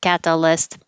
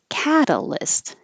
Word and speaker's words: catalyst: be higher and longer so it's not catalyst but catalyst catalyst one two three catalyst if it's a longer